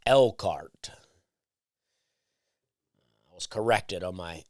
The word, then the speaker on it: Elkhart: I'm told it's Elkhart. They don't pronounce the H. It's spelled elk like the deer, and then H-A-R-T, Elkhart. But apparently it's pronounced Elkhart.